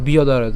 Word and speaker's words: ব্যাদারয়ত: বিয়াদারয়ত। কেন? জফলার উচ্চারণ কার মতো হয়? অন্ত্যেস্তিয়র মতো হয়, আমরা জানি। তাহলে এটার উচ্চারণ কেমন? বিয়দারয়ত।